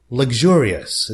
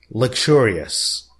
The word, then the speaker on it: luxurious: nice very elegant by the way the American pronunciation is luxurious the way I am reading it but British people say luxurious okay but personally I go for the American